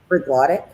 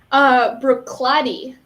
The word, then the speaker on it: Bruichladdich: Do you want me to pronounce it? Bruichladdich. Bruichladdich.